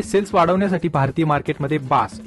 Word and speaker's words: BaaS: आहे आता एमजी ने सेल्स वाढवण्यासाठी भारतीय मार्केटमध्ये बास हा प्रोग्राम सादर केला असल्याने सर्व स्तरातनं या प्रोग्रामला वेलकम करण्यात येत आहे आता कस्टमर वेलकम करतायेत का नाही हे थोड्या दिवसातच तुम्हाला कळेलच आता हा बास प्रोग्राम काय आहे हे मी तुम्हाला मराठीतनं एकदम